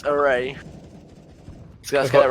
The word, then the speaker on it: Arae: It's not Area, it's Arae.